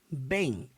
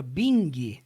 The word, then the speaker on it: Bing: Em relação à pronúncia, toda e qualquer palavra que você vê no inglês que termine com ing, você não pronuncia a letra G.